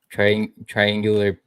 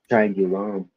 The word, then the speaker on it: Triangulum: Triangular. Triangular. Triangulum. It's like triangle, but after the G, it's ULUM.